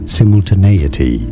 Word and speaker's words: simultaneity: of pronouncing it in British English it's generally pronounced does simultaneity simultaneity Sim simultane okay that's right simultaneity sorry